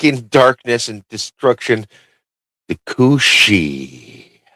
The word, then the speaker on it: Cú Síth: The cushi. Thank you. Welcome everybody. You you you pronounced it perfectly this time.